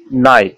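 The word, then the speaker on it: night: এইউজিএইচ এবং ওইউজিএইচ এর উচ্চারণ অধিকাংশ ক্ষেত্রেই ওয়া বা আ, তাছাড়া ইআইজিএইচ এর উচ্চারণ হয়, কিন্তু কিন্তু এইসিআইজিএইচটি হাইট এর উচ্চারণ ব্যতিক্রম। যেমন নাইট, এনআইজিএইচটি নাইট, নাইট মানে রাত্র।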